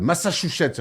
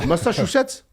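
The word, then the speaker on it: Massachusetts: saison il porte le massacouchette rien que ça sur son dos." Possible à dire évidemment moi je l'ai plutôt bien dit hein. Bah tu as raté quand même une syllabe. Massachussette voilà c'est bien mais tu avais pas dit ça juste avant.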